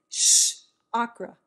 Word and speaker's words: chakra: don't know chakra chakra how do you say this shh okra shh girl it's how i've been taught and so i just